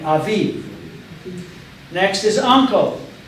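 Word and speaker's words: אביב: The first one in English says aviv. Spring. Aviv. Do you see aviv there? You see the a and then v. The yod is silent, and the last gets one responsibility, which is to pronounce the sound of the letter, which is v. So we have aviv.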